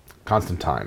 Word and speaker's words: Constantine: Constantine rhymes with wine.